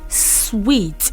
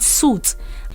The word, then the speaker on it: suite: particular one it is sweet again but people don't know the right pronunciation they call it suit is sweet and not suits okay so it means